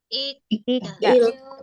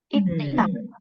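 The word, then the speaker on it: 읽다: Giok kalau ketemu sama diget, dia akan dibaca sang diget. Jadi dibacanya bukan ikda, tapi digetnya langsung dibunyikan sebagai huruf E. Ikta.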